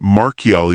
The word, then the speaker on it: Marchiali: It must be remembered that Marchiali would be pronounced in Italian Marchiali, and that St.